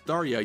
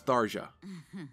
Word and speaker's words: Tharja: If her name is indeed an Indian name derived from Sanskrit, you would pronounce the J like an English J.